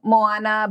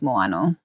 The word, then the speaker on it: moano: people say both yeah people say both four keeps telling me I'm saying it wrong I grew up saying Moana but then I do think that for might be right and the correct term is moano moano moano yeah um but so